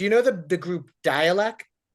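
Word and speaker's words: Dälek: But with the lot apparently it's pronounced dialect like dialect.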